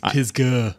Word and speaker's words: Pisgah: You don't pronounce it as an A, you pronounce it as a U. It's Pisgah.